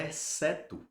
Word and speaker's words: exceto: Na palavra exceto, assim como na palavra desc, eu tenho dois duas letras com apenas um som, exceto parece que eu tô falando um, um fonema só, uma letra só.